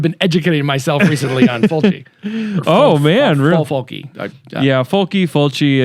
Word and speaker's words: Fulci: Let's go down this because I've been educating myself recently on Fulci. Fulci. Yeah, Fulci. I think it just depends on if you are or aren't from Italy, how you say it.